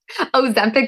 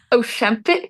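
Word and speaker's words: Oscypek: I kept calling it Ozempic by accident, but it's Oshempic.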